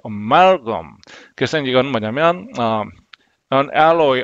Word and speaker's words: amalgam: 저도 예전에 이제 아말감으로 했던 부분이 많이 있었는데 이게 이제 원래 정확한 발음은 지금 보니까 amalgam. 그래서 amal에 이제 강세가 amalgam.